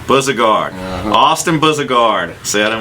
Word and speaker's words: Bouzigard: Can you pronounce the last name? I don't want to mess it up. Bouzigard. Bouzigard.